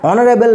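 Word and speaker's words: honourable: Brutus is a dash অনারেবল ম্যান যখন বলছে যে অনারেবল লক্ষ্য করে দেখো এখানে কিন্তু এইচ টা সাইলেন্ট রয়েছে এবং উচ্চারণটা কেমন আসছে উচ্চারণটা আসছে ও এর মধ্যে তাই না তাহলে কি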